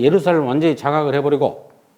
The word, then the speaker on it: 예루살렘: 이거 R자라고 내가 썼는데 이거를 제루살렘 이렇게 발음한 게 아니라 그지? 예루살렘 이렇게 말하죠.